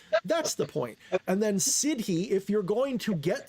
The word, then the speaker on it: siddhi: I pronounce it siddhi. It sounds like the city, like you live in.